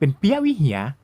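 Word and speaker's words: ព្រះវិហារ: ว่า ปราสาท พระ วิหาร คน กัมพูชา ก็ ออก เสียง เป็น เปี๊ยะวิเหีย เรียก ตาม คน ไทย มา ตลอด ส่วน ตาม จารึก หรือ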